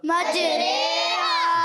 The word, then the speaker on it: مجریہا: مجریہا، کیا بن گیا، مجریہا، جی ہاں کھڑی زیر لکھی جاتی ہے اور پھر اس کو پڑھا جاتا ہے مجریہا کی طرح، ٹھیک ہے۔ تو کیا